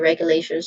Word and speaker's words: regulation: So pronunciation wise regulation there's four distinct sounds starting with re which reg a vowel sound and then you